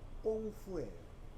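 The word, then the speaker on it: 功夫: 근데 공부가 중국 발음으로 꽁푸예요. 꽁푸인데 서양 사람들이 꽁푸 듣고는 영어로 표기한 것이 쿵후가 된 거야.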